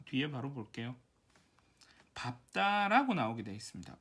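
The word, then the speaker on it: 밟다: 리을 비읍의 경우 대체로 사실은 리을로 나는데 예외로 밥다, 넙둥글다, 넙죽하다, 넓적다리 이 아이들만 비읍으로 발음이 나는데 얘는 외우시는 게 좋을 것 같아요.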